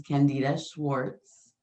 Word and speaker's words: Candida Schwartz: I am Amira, and I have a special guest today, Miss Candida Schwartz. Did I pronounce Hi.